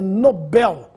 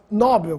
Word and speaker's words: Nobel: ganha o prêmio é Nobel Esse é o nome do Sueco que nos deu o prêmio da tão distribuído até hoje Alfred Nobel portanto sem acento não existe a forma nóbel como Alguns falam oceânia Oceania já ouvi